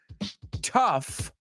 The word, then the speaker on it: tough: and the last one tough rhymes with stuff yes it's a good